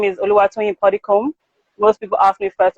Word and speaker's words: Puddicombe: So pudding and the comb, you use to comb your hair.